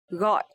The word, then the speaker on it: gọi: So here letter G in Vietnamese we pronounce like G. G. And also the tone mark is dấu nặng. So this word we will pronounce gọi.